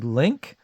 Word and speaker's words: Linck: Is it Barry Linck? Linck. I think it's pronounced Link, and edited by Linda Powell.